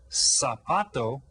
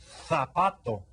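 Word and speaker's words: zapato: learning here for example the z sound is pronounced as th so that the word sapato which means Shu would be pronounced sapato sapato you hear that and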